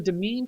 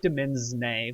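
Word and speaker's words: demesne: and it says your demean consists it looks like demin but I'm pretty sure it's pronounced demean kind of like domain your demean consists of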